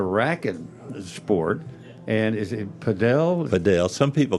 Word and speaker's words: padel: And is it padel? Padel. Some people call it paddle. It's spelled P-A-D-E-L, but some people call it paddle, but it's really supposed to be called padel.